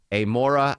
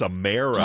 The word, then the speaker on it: Amara: Most mispronounced word, by the way, Amora Amakwe. from did I get it that time? That time Amara? you got it. It's Amara. You still got it wrong.